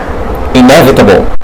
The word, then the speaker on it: inevitable: وتخلي بالك من مكان الستريس او المكان اللي انت هتعلي فيه صوتك وتطول فيه في زمن نطق الحرف. هيبقى الستريس عندنا هنا في المقطع الثاني مش الاول، يعني ما تقولش inevitable، لا inevitable يعني حتمي.